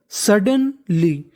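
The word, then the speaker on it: suddenly: सडनली, सडनली अचानक से क्या होता है? डी 2 बार है, उच्चारण 1 बार करना है। LY ली पढ़ते हैं।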